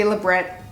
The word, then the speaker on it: labret: labret stud labret stud however you want to pronounce it I always say 'la break because it makes me feel fancier for some reason but it could be labret your personal preference it is 3/8 of